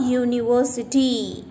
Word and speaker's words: university: to remember children that when the vowel u sounds like u here the letter u it makes the sound as u right so don't be confused we have to use before you sound uh like for example a university you it is a consonant letter right children so consonant